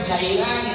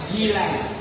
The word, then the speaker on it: Jilan: Syekh Abdul Qadir bukan Jailani salah aljilani karena beliau lahir di desa namanya Jilan banyak orang membacanya jailan salah salah besar ya Kenapa kau dibaca Jilan aljilani karena beliau lahir di desa